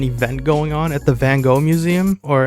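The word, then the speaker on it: Van Gogh: going on at the van go Museum or as we here in the Netherlands call him F which is the correct way of pronouncing it let me just make that clear there's this Pokemon X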